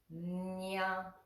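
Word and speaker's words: ञ: The next line, that first letter is pronounced like this. Nya, nya, nya. It's kind of like a cat meowing.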